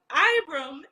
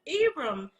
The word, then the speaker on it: Ibram: I called him Ibram, and it's Ibram.